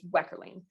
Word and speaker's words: Wekherlien: last name my actual technical last name is weckerling nobody can pronounce it nobody's gonna remember it right and